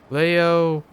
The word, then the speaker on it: Leo: For I am the glorious, most venerable Leo Ayanokoji. It's written with the kanji for lion, and to be sure, but it's pronounced Leo.